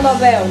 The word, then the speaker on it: Nobel: Nobel Nobel E aí qual que é a sílaba forte nome é o Nobel Nobel porque ela é uma oxítona o batom única que